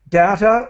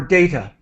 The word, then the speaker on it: data: Both ways are correct. Data or data. Data. Both are correct.